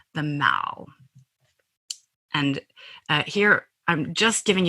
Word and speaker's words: The Mall: And I'm calling it the Mall. In America, we would pronounce that word as mall, and that is